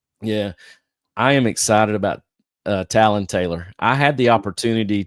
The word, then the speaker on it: Talon: kid's name right, because a lot of people call it Taylor. And I said, how do you spell it? And she was like, it's just like a bird's beak. She said, it's Talon.